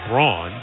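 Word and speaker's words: Braun: a foul is called Brown is spelled b r a u n like my shaver but that you call it Brawn this is brown out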